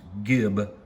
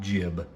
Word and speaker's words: gib: I'm in the US, so it's pronounced Gib, not Jib.